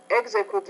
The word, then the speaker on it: execute: So stresses on the first syllable. Execute.